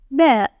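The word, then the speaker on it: باء: The first one is ba. Place a single dot below it. It is pronounced like the English B sound in bed.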